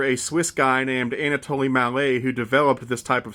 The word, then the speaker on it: Mallet: American I always thought these engines were called mallets but that's not the correct pronunciation they're actually pronounced Mal they're named after a Swiss guy named anat Malay who developed this type of steam engine what